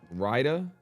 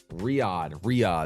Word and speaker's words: Riyadh: It's pronounced that wrong, but yeah. Riyadh, excuse me, Riyadh. My bad, yo. That's on me, twin. That's on me, my fault. Riyadh. I said Rida.